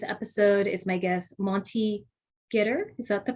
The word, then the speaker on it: Ghitter: Joining me on this episode is my guest, Monty Ghitter. Is that the correct pronunciation? Yep, perfect. Yeah, Ghitter.